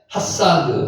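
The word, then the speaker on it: חָסַד: 요게 핫사드, 사랑하다라는 뜻입니다. 동사입니다. 핫사드. 아까 말했죠. 작대기가 있는 것은 무조건 아라고 읽자고 이야기했고요. 그래서 핫사드가 되는 겁니다.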